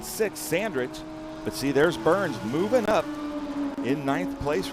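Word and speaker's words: Byrne: Yeah, it's singular Burns and it's spelled like David Burn with the talking head. B Y R N E.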